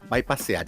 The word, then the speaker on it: bypasear: está en el diccionario bypasear y escrito tal cual se pronuncia, es decir, no con la by en inglés que es bypass, que significa carretera de circunvalación o ruta alternativa.